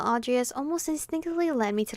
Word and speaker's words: Audrius: Audrius? That's how you pronounce his name.